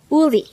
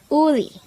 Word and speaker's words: 우리: Uli. Uli. This is pronounced as a two-syllable word. The first syllable is u, the second syllable is ri.